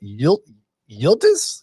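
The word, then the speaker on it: Yıldız: Yildiz?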